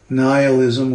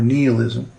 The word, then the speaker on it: nihilism: you know nihilism well it can be pronounced either way nihilism or nihilism the rejection of all